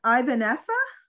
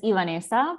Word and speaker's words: Ivanesa: right um yes well to be honest it's it's ivanesa because yeah but it's totally okay i'm so used to the english pronunciation right now um so actually i